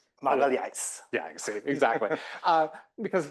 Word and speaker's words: Milhazes: designer whose name I will not venture to pronounce, but you can correct me, but Magalhães. Magalhães.